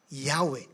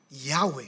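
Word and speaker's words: Yahweh: wh wy okay ay bibigkasin as yahwe yahwe sabihin nga yahwe at ang Latin equivalence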